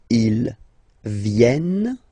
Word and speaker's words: viennent: Ils viennent. So remember this classic ending ENT for the third person of the plural is here, but phonetically it doesn't exist, so you don't pronounce it.